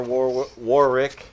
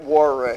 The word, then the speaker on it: Warwick: normally feel bad for war war Rick War Warick I me Warick he is super upset that we actually pronounce the W that's in his [